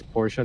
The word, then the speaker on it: Porsche: can't you understand sir let's first pronounce it right it's portia not porsche same thing nobody can ask